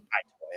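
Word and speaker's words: Itoi: So, the fact that like it toy doesn't want there to be another one toy.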